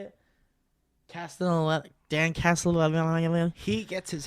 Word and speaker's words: Castellaneta: Dan Castellaneta or something. Is that how you say it? Castellaneta.